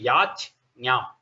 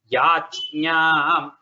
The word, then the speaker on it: yajñam: So if you when you want to practice, you have to say yach nyam. Yach nyam. It's a little difficult. It is not, your tongue doesn't flow smoothly there, but that is how it has to be pronounced.